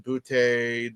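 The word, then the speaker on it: Boutte: And then Boute, the receiver, that's how you pronounce his name.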